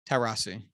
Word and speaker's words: Taurasi: Diana Taurasi. Yeah, I don't know. One of the greatest basketball I think the players last one was correct. Yeah. Taurasi. Yeah. I always mispronounce her fucking name.